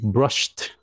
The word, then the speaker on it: brushed: Now, khi cái chữ brush này đó, nó cái ed á, nó phát âm hơi lạ tí xíu. Mình muốn các bạn phát âm để cho quen miệng, ok? I brushed. Thế đi, brushed. Ok, so nó phát âm gì nè? Brushed. Đúng rồi, quan trọng có cái sờ, cái xong thêm cái thờ cái nữa.